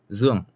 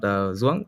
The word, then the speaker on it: Dương: Hanoi is the center of Vietnam, and my name is pronounced as Dương. It's quite flat, and the pitching is from mid to high. It's not Zuong or Dương or Dương.